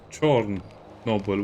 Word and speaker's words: Chornobyl: 1 was the shadow of Chernobyl, and this is S.T.A.L.K.E.R. 2 Heart of Chornobyl, which is the Ukrainian pronunciation.